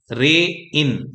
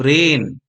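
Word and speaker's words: rain: तो ऐसे नहीं बोलना है, रे इन ऐसे नहीं बोलना है, सिर्फ रेन, RAI का क्या हो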